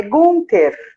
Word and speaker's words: Gunther: realmente ela gosta disso pede para pronunciar o meu sobrenome é gunter conta aqui a gente